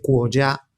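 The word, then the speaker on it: 国家: que la palabra país en chino se dice cuya es el país familia Ya es familia y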